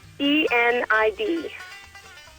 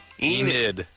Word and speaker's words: Enid: E-N-I-D. E-N... Enid. Like I-D.